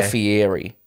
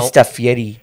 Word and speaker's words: Fieri: annoying was of how how they were pronouncing Fieri it wasn't Guy Fieri it was well stuff Yeti they're also not from